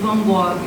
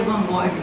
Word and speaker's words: van Gogh: Eu pedi assim, qual é a pronúncia certa do nome do Van Gogh, né?